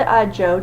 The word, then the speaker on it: Zhou: So we have the Zhou dynasty, so it's ZH, but it's pronounced like the letter J.